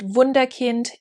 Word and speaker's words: Wunderkind: wunderkind in any case you pronounce it wunderkind in german and it was established